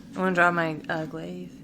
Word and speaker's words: glaive: I want to draw my glaive. Is that how it's said, by the way? Glaive, yeah.